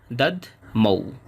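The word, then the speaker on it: দধ্মৌ: এরপর আছে দাদ মৌ এখানে ধ এর উচ্চারণটা অর্ধেক হবে দাদ মৌ এরপর আছে মহাশংখম বাংলা উচ্চারণের মতোই শেষে অনুসার কারণে অর্ধেক ম হবে।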